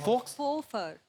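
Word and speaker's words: faux: एक्स को तो pronounce ही नहीं करते। फोफर। फोफर। फोफर एक्स नाम ही नहीं लेना उसका। साइलेंट है वो।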